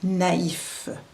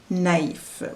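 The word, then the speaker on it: naïf: out one dominates so the purpose is to make sure that we pronounce both vowels distinctly I have five examples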